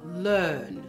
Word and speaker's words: learn: So the sound is Now the R, if we pronounce it, it's gonna sound very much country. Learn, learn. And what you'll notice is it also constricts your vocal tract. So in this case, we're going to lean more towards a British pronunciation.